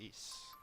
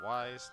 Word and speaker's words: Ys: members of Seoul City it is actually pronounced East not wise not yes not any of the